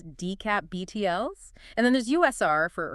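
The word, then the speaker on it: DCAP-BTLS: that's a mouthful so how would you even pronounce that one ecap btls not quite you'd pronounce it as dcap btls and then there's USR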